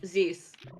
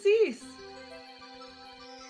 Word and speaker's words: Cysse: I'm saying Cysse. Cysse. He's French, it's a C. Hence why Cysse.